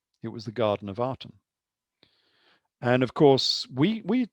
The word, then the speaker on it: Aten: was the garden of artem and of course we we tend to say this uh we pronounce this with an a but in in some respects i think that's wrong because the artem was spelt with a